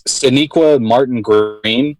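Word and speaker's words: Sonequa Martin-Green: make sure i say her name right it's siniqua martin greene from the walking dead that's who i had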